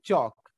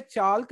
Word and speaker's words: chalk: CHALK, spelling CHALK होती है, बट हम उसको बोलते हैं चौक। तो यहां पर जो हमारा L है उससे पहले A आया है, दैट्स वाई हम L को साइलेंट कर देंगे। तो हम चौक बोलेंगे, चाल्क नहीं बोलेंगे।